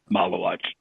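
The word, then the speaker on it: Maluach: Um their draft pick, I cannot pronounce his name. Malawatch.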